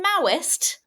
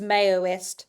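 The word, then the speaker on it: Mao: this to to Chairman maist that there's no there's there's certainly things it's actually pronounced Mayo Mayo excuse me there's there's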